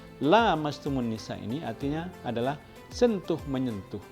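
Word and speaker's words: لامستم النساء: karena bacanya Aula mastumunisa ini ada bedanya yang satu pendek yang satu panjang la mastumun Nisa ini artinya adalah sentuh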